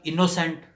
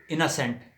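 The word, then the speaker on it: innocent: Happening ٹھیک ہے۔ اور اسی طرح انوسینٹ غلط ہے، اناسینٹ ٹھیک ہے۔ اور اسی طرح انوسینس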